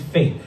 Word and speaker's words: Fete: We finally went to, it's called Fate. But when you look at it, it looks like Fete, F-E-T-E, which is a Latin word for celebration, but it's pronounced Fate.